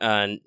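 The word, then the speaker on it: Nioh: Lucky's playing Nio right now. Or Neo. Neo. That's what I think. Yeah. It's Yeah, Japanese. Neo. You gotta remember your pronunciations.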